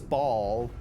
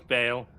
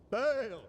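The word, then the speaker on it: Baal: Wait, is it Bale or Ball? I thought it was Ball. No, it's Bale. I think there was several mispronunciations. Long A. Bale!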